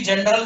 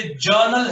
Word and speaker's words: journal: नहीं है ये, इट इज नॉट, ये नहीं है ये, प्लीज इसको कोई भी जनरल नहीं बोलेगा। जनरल का मतलब होता है सामान्य, साधारण, ठीक है ना। ये जर्नल है, मैंने ऊपर सबसे ऊपर